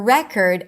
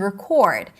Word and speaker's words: record: And this is especially important that when we have two different words that the only difference is the primary stress, like present and present or record and record.